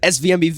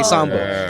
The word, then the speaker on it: SVMBV: my name they said SV mbv they didn't even say SoMo so that so that